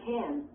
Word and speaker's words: can: When can is at the end of a sentence. The vowel sound usually is not reduced. It is pronounced with the vowel sound A, like the A in math. It also is stressed.